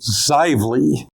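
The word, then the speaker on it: Xively: Now the pronunciation is Zively.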